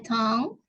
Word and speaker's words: tongue: My tongue itu lidah itu kan tulisannya tongue. Cara bacanya tongue ya.